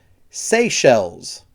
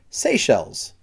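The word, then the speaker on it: Seychelles: to pronounce this one SE shells so it's kind of like you're saying the word say and then shells like shells in the water so SE shells that's that Island right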